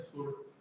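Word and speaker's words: sword: ऐसे स्वॉर्ड, इसमें क्या डब्ल्यू साइलेंट रहता है, इसे स्वॉर्ड बोल देते हैं, अपन पढ़ लेते हैं स्वॉर्ड, लेकिन इसमें डब्ल्यू का सामने नहीं रहता, स्वॉर्ड तलवार रहती है ना, उसे बोलते हैं स्वॉर्ड।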